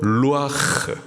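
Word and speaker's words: רוּחַ: 그래서 생기 히브리식 발음으로 루아 그 뜻은 생기 바람 호흡 그리고 성령이란 뜻을 갖고 있어요.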